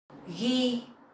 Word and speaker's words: ghi: Ghi, ghi. So the GH sound you will pronounce like g, g, g, g, g. in your throat.